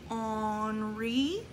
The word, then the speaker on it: Henri: had his name is the French word for Henri onry Matisse good good then after